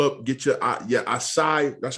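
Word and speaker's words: açaí: live bold pull up get your uh yeah aside that's how you say it get your acai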